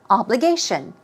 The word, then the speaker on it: obligation: obligation here we go obligation stress goes on the third syllable obligation obligation we're talking about